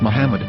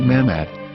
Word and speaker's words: Muhammad: yehuda's Hebrew English dictionary it is correctly pronounced as Muhammad not mammad so how we're going